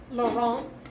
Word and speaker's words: Laurent: The last T in French is normally not pronounced, so it would be Laurent.